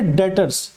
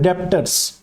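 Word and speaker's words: debtors: नहीं, बच्चे पढ़ते हैं डेप्टर्स, है ना। तो इसमें जो बी है ना वो बेटे साइलेंट है, तो क्या पढ़ना है आपने, डेटर्स।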